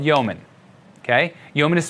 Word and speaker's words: Yeoman: first tool that will be using is called yeoman ok yeoman is spelled yeo ma n and there's a javascript